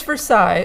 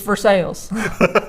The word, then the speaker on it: Versailles: Home in Versailles which is actually how it's pronounced in Kentucky yeah no it's Versailles if you're French in Kentucky its Versailles and there's a castle there as castles amazing